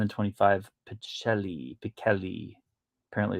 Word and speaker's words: Pichelli: Thor number 1, the 1 in 25, Pichelli. Apparently it's pronounced Pichelli, even though nobody does.